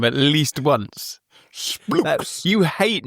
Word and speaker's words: SPLX: So researchers at an entirely unpronounceable company called Splooks, it's spelt SPLX.